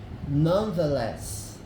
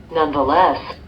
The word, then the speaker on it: nonetheless: Nonetheless. Nonetheless. Nonetheless. Tá vendo? Você tem duas sílabas tônicas aqui, ó. Nonetheless. A primeira sílaba tônica, a última, e a segunda sílaba tônica aqui.